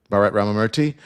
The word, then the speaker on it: Bharat Ramamurthy: Bharat Ramamurthy. I'm saying it correctly, right? That was great. Yep. Bharat Ramamurthy.